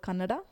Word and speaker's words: Kannada: My mother tongue is actually called Kannada.